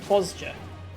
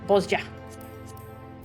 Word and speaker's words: Bozja: Bozja. Kugane. Yeah, let's go. Let's go unlock that. Alright, that starts over here. Hail to the Queen. Teleport. The J is like a Y.